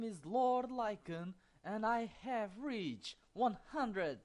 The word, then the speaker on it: Lycan: He also asked me how to pronounce it. Like I'm saying, is Lycan.